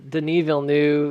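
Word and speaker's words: Villeneuve: very very good uh denil knew that's how you pronounced his name um you're wondering he's uh it's it's a for name right so for Americans we're like Denis VV um he's a very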